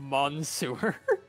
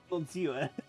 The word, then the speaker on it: Monsieur: I just now noticed in that game sent squish that the sewer is labeled Mon Sewer. I didn't pick up on that. Like mispronouncing Monsieur. Monsieur.